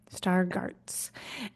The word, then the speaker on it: Stargardt: Immaculate degeneration that hits people when they're younger star Garts disease is that how you say it okay it's spelled it's spelled s t a r g a r DTS okay star Garts and when and you were 10 and one